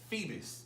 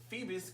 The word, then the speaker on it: Feebas: So Phoebus is the Pokemon that I'm talking about. It's spelled Feebas.